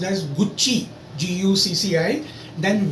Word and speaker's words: Gucci: Okay, so Italian brand that is pronounced as गुच्ची, GUCCI. Then Versace. CI अगर जिस word में है समझो इटालियन है लास्ट में, और CE समझो वो भी इटालियन है, तो C की साउंड च हो जाती है.